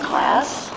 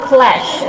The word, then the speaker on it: class: So that is not clash, okay? Jadi jangan sampai ada lagi mahasiswa pendidikan bahasa Inggris ini menyebutkan kelas sebagai clash, okay? So that is not clash, but class.